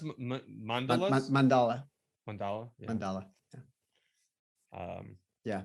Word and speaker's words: mandala: So yeah, what he's doing, even the tool that he's using, this is how the Tibetans do the sand mandalas. Yeah. Is it pronounced mandalas?